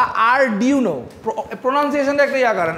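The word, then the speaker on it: Arduino: যে আরডুনোর কি কি ভেরিয়েশন বাজারে আছে বা আরডিউনো প্রোনাউনসিয়েশনটা একটু ইয়া করেন আরডিউনো ঠিক আছে আর ইউনো আরডিউনো উনো আরডিউনো উনো এই জিনিসটা লাগে কারণ প্রজেক্ট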